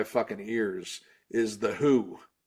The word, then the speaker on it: The HU: they call themselves the Who like spelled like that still? It's pronounced No. Yeah. Yeah. It's the HU, but it's pronounced who.